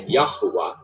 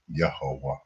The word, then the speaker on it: Yahweh: artificial hybrid word, which if you pronounced it, it would say Yahuwah, but no Israelite. See, they're being conniving, Yahweh. They know it's actually Yahweh.